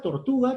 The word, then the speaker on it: tortuga: La palabra tortuga también tiene 3 sílabas. La pregunta sería, ¿dónde está el acento? En la sílaba tu.